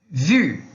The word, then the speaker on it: vu: Depende da situação, e o vu, vu, da expressão ça fait longtemps qu'on ne s'est pas vu. Então não pode confundir. Quando a gente tem o U sozinho, é som de U.